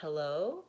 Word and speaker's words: hello: vowel and vowel Oh hello with stress on the first syllable hello so I'm thinking maybe